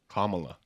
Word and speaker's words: Kamala: Kamala, yes. Kamala. Kamala. Carmela? Kamala. How do you say it? Kamala. Kamala. Kamala. Like Harris.